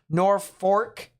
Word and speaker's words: Norfolk: an fyi the community of norfolk is actually pronounced nor fork what due to it being and the north